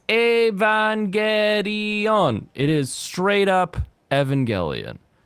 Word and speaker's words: Evangelion: Evangelion and I have canonical proof that it's pronounced Evangelion so uh his little ass